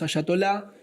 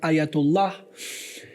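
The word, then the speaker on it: Ayatollah: la teocracia de los ayatolá. dicho así, ¿no? Asyatolá, que también eso es un error enorme porque se debe pronunciar ayatullah. E es totalmente distinto.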